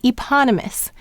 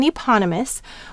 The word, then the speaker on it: eponymous: suffix us as well now we have the e saying the long sound in eponymous where the P is going with the second syllable this is just very